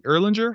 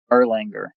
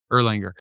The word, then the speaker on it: Erlanger: Is this in Erlin- Erlinger? How do you pronounce it? Erlanger, yeah. Erlanger.